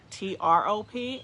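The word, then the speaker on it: Throop: area don't understand that it's not pronounced the h's aren't pronounced in this area it's only like T ROP and nobody understands that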